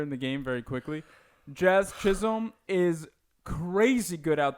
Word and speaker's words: Jazz: I said Chaz, didn't I? You're saying Chaz Chisholm. Yeah, I said, you're giving him 2 C's so that way you don't say any of the J because you usually Chisholm.